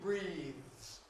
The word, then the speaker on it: breathes: Now, do we have an extra syllable or not? Breathe. Is that a sibilent? No. So, no extra vowel. He breathes more syllable.